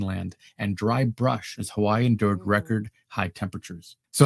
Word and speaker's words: Hawaii: right your W's and it's not Hawaii it's Hawaii your W's are pronounced as V's fun fact Kihei this is